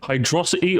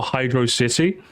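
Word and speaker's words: Hydrocity: to beat you up hydrosity or Hydro City it's hydrosity purely because hydrosity just sounds more fun to say if you say Hydro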